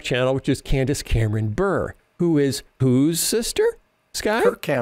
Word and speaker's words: Bure: But by the way, her name is Bure, Candace Cameron Bure.